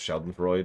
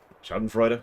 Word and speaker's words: schadenfreude: a big fan of sheldon freud which i know i'm pronouncing wrong and i don't care but schadenfreude i think actually but scrum that was